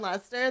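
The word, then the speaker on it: Leicester: I practice so much to pronounce slow and Lester that I couldn't actually read the bio.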